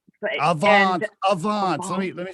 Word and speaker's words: Avaans: was it always okay was it always called advance am i saying it right by the way it's avons let me let me say avons i said